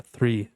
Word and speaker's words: three: Aí depois a palavra three, olha só, three, tá bom? Você dá uma segurada na língua ao você pronunciar essa palavra. Então fica three.